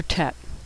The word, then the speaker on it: Tet: Next is the letter tet. There are no tricks here. Tet makes a T sound as in tango.